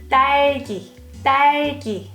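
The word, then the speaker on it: 딸기: korean first one strawberry daiki this is double d consonant so you have to pronounce it let's go pick some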